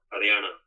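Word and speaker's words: Haryana: even there today in the northern state of Hariana in India. Okay. Hana is spelled H A R Y A N A.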